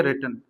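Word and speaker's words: written: रिटन। उच्चारण होता है रेटन। सही उच्चारण क्या है? रेटन। तो ए लेटर इज रेटन के बाद क्या आ जाएगा?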